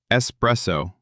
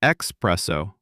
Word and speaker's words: espresso: Espresso. Espresso. Not espresso. There is no X. No espresso. Espresso.